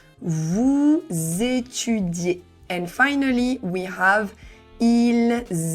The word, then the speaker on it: étudiez: Vous étudiez. And here we really need to say de. We don't pronounce the z because z make the sounds vous étudiez.